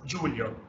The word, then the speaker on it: Giulio: my name is Julia I'm Italian so my name is pronounced Julia I know it sweet